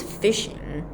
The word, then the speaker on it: phishing: legitimate users system and the second one is fishing as you can as you can hear it's definitely the same pronunciation way as the fish that we really eat so fishing is a